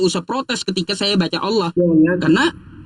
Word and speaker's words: Allah: Iya, makanya kan kita kita menulisnya L-nya doble kan itu. Makanya kan kita menulisnya L-nya doble artinya tebal dalam bahasa Arab tebal L-nya dobel all.